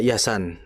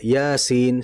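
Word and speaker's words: يس: Jangan dibaca alam, jangan dibaca yasan, tidak yasin sesuai dengan ejaannya.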